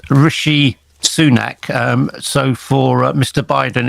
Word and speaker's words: Rishi Sunak: A few weeks ago, just before we got our latest prime minister, it's Rishi Sunak. So for Mr. Biden, it's not Rishi Sunak. It's Rishi Sunak.